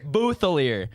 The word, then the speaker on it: Bouthillier: um how do you say your last name boier booer k booer yep welcome than appreciate yeah this yeah we